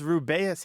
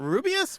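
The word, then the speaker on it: Rubeus: books on tape and Jim Dale reading he says ruas Hagrid and a lot of people are like it's not rubus what what oh no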